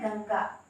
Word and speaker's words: गंगा: ठीक है, वैसा ही है गंगा। तो गंगा में आधड़ा, प्रोनाउंसिएशन में जो है आधड़ा आता है।